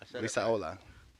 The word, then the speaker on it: Lizaola: Lizaola.